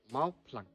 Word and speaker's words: Mawphlang: Mawphlang. It come like that. That's why people who come and visit here, no, they cannot pronounce. Yes. They pronounce with the F letter. Okay. Here it's P.